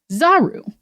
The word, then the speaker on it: zaru: But there's also a Japanese word that sort of implies the negative, which is zaru, which phonetically sound very similar, right? Mm-hmm. So saru, monkey, zaru, not.